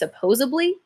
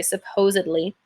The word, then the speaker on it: supposedly: articulation and pronunciation err I've heard some people will like flip the D or out make it a B and they'll say it's supposably but again you got make sure you pronounce and correctly make sure you see that's the letter D not a b c i say supposedly and for this last